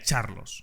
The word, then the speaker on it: Charlos: Bueno, he dicho Carlos, pero realmente se pronuncia Charlos, o al menos eso creo.